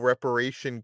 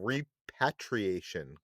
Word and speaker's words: repatriation: i've been saying global reparation council or reparation yeah i've been saying global reparation council and it's global repatriation council like uh like repatriation so i've been saying it wrong that's basically what i'm